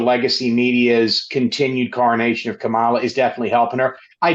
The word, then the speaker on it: Kamala: All right, I'm going to turn you over to my colleagues, but first, as always, friendly reminder, it's Kamala, like the punctuation mark, Kamala.